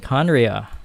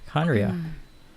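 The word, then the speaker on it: Khaenri'ah: 500 years ago, how do we pronounce this again? Conria. Conria.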